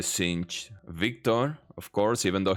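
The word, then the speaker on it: Singed: is Echo Jinx cin people were saying that my pronunciation of sing I say sink but apparently cin Victor of course even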